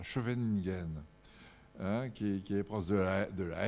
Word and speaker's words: Scheveningen: Alors là, je prononce à la française, parce que les Hollandais ne prononcent pas du tout comme ça. Scheveningen, qui est proche de la Haye, en fait.